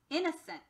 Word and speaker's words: innocent: word innocent my friends you'll notice that there's an upside down e above the o here instead of it being in no in no scent is actually in a sent so when a syllable does not sound like its usual short or long self we call that a schwa and we have a schwa above the o here because it's in no sorry in the sent instead